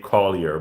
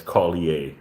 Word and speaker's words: Collier: Collier um or you guys in the US would say Collier but here because we have our French influence we would pronounce Collier as Collier right so this is is